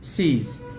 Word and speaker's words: says: ahmed or fatima says it's it sees sees it's like this s e z the teacher sees that